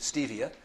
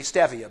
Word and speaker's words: stevia: health food store because everybody pronounces it stevia but since it's a botanical and it's named after the stevia robotiana plant it is actually stevia but however you pronounce